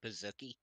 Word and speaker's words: Pizookie: you for it because the correct pronunciation is actually Pizookie.